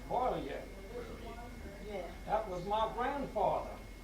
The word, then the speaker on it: Poirier: It wasn't Poirier, they had the name spelled wrong, it's Poirier.